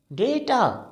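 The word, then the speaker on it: data: बोलते हैं tour टूअंप्रोक्सी वी वड प्रोनाउंस इट डेटा डेटा जैसे हम कहते हैं बेटा लाइक डेटा ओके अच्छा एक और शब्द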